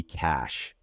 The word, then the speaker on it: cache: But the correct pronunciation, as I just said, would be cash.